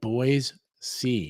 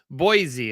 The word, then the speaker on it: Boise: think hard about it it's like boys see yeah it's a weird thing he's weird that way boys boys yeah no z sound everybody calls it z and when i first moved here it was that's what i did was i said boise and they're like oh you're not local i'm like so now